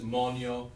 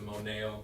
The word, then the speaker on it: moneo: So it is monio as opposed to moneo, but that's a common mistake.